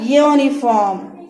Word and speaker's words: uniform: So, yeah, uniform. Okay, university, European, unicorn. Okay, so these are starting with Y. Okay, uniform. Uniform means Y. A. It comes. Ya comes. So here ya means Y.